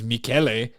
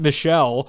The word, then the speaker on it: Michele: His name is Mikuel but the first time we not Michelle but the first time we covered Mikuel Sedona.